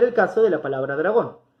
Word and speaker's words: dragón: Vamos a ver el caso de la palabra dragón. La palabra dragón es una palabra aguda, porque su sílaba tónica es gon.